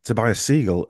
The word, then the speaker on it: Tobias Segal: about about health really and today's guest is Tobias seagull and he have I pronounced that right Tobias you did you did